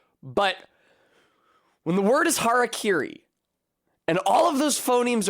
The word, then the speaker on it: harakiri: That's how English speakers pronounce it! Even though it's literally pronounced phonetically. Ha, ra, ki, ri.